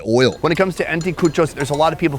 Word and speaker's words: anticuchos: We've been eating street food all day, and it all has built up to this moment right here with the anticuchos. How's that pronunciation? Exacto, anticuchos.